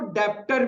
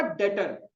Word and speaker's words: debtor: कुछ लोग इसको डेप्टर भी बोलते हैं बट बहुत गलत है, ठीक है? प्रोनाउंसिएशन क्या होगा? डेटर, बी साइलेंट रहता है, डेटर।